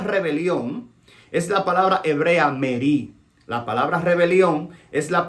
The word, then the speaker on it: merí: La palabra rebelión es la palabra hebrea merí. La palabra rebelión es la palabra hebrea merí, con acento en la I. M-E-R-I acentuada.